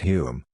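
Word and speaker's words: Home: conservative government headed by H pronounced Hume who had been Chamberlain's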